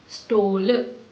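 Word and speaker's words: stol: लेकिन जो प्रोनाउंसिएशन है वहां पे एस टी ओ एल में जो टी है आपको उसको डी की तरह प्रोनाउंस करना है। जैसे कि स्टोल स्टोल और अगर हैंगिंग चेयर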